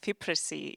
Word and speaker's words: FIPRESCI: So from now on, we are trying to pronounce it in a correct way. And FIPRESCI is an acronym for the International Federation of Film Critics.